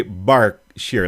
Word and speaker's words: Berkshire: but you were meant people say bark sheer like it sounds like an a and reading people would